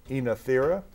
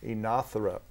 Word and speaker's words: Oenothera: spell that for you it's sometimes pronounced oenothera or sometimes in a syrup but o e n